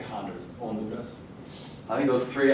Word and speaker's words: Honduras: H is silent. I would say Honduras.